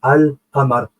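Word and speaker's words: القمر: Lunaire, ça veut dire qu'on a prononcé l'article Al, comme Al-Qamar. Al-Insen, qui veut dire l'homme.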